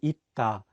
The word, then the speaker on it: 있다: Another example would be 있다, which is the Korean word for the verb to be. Here, the 쌍시옷 is in the 받침 position, so it's pronounced as 트.